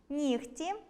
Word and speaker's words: нігті: Але варто затямити й деякі винятки: оглушення відбувається у словах “нігті”, “кігті”, “легко”, “вогко”, “дьогтю” та похідних від них. У вимові цих слів чуємо звук [х].